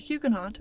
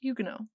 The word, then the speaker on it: Huguenot: let me clarify that i pronounce the word huguenot with the t as is the common pronunciation in english rather than the french pronunciation huguenot my pronunciation of names